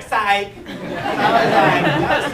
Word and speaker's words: Psych: A lot of people think his name is pronounced differently, but his name is actually Psych.